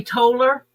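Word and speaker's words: Tolar: Where you're from on how they pronounce the a r part. In the south we would say taller. They would say it like it's t o l e r.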